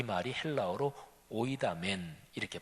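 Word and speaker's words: οἴδαμεν: 18절, 19절, 20절 이 3절에 각각 우리는 압니다, 헬라어 원어로 발음을 하면 오이다멘, 딱 한 단어로 되어 있어요.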